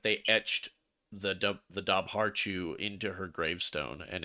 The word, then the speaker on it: Dobhar-chu: One quick thing, it's pronounced Dobhar-chu. Dobhar-chu.